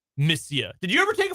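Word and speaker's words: monsieur: o n s i e r but it's pronounced missia did you ever take a foreign language TR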